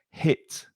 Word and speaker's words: hit: a different sound and be careful of that h sound on hit it's not from the throat it's not it's hit hit yeah it's not a hot no it's hit and then i have